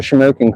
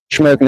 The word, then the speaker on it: Shamokin: Shamokin is spelled Shamokin. By matter of fact, right here's the sign. So it's a little different than smoking, like, you know, like smoking a cigarette or something like that.